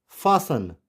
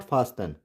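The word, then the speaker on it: fasten: लिखना तो हमें टी पड़ेगा लेकिन इसको प्रोनाउंस नहीं करेंगे, लिसन। वैसे इट्स फासन, नॉट फास्टन, फासन।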